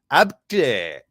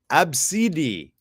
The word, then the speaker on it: Abcde: Here's the pronunciation. It's Absidi.